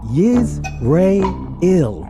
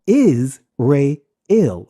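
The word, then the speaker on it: ישראל: Altogether, they are pronounced Yiz-Re-Il or Is-Re-Il.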